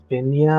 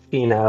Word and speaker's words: Fina: Also, Heidi, just because I don't know if I want to say the name wrong or right, is it Finia, or am I saying this wrong? It's Fina. Fina, okay, there it is.